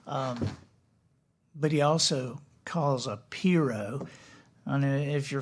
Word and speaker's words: pirogue: Yeah, it's pronounced pirogue. That's what the Cajuns say.